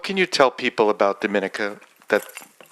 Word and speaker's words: Dominica: country's name is Dominica we not Dominican Republic so it's pronounced differently um we are about